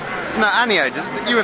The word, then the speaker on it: Aniode: No, Aniode.